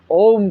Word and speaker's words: ओम: इसका उच्चारण करना चाहिए ओम जब हम उच्चारण करते हैं ओ को पहली बार में ज्यादा समय देना है दूसरी बार में ऊ